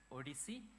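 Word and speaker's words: OHDSI: a project called ODC it's oh DSI it's pronoun pronounced as ODC it stands for observational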